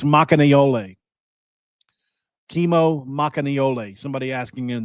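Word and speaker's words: Makaneʻole: It's Makanayole. Kimo Makanayole. Somebody asking in the chat how to pronounce it again.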